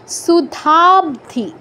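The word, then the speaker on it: সুধাব্ধি: হবে মধ্যে এরকম সুধাবধি এই ব এর নিচে একটা হসন্ত আছে হসন্তের গুরুত্ব সম্পর্কে আপনারা এতদিনে জেনে গেছেন যে হসন্ত আছে মানে পরের স্বরবর্ণটা নেই ব এর অটা নেই তো অটা নেই মানে বটা অর্ধেক উচ্চারণ সুধাব সুধাব নয়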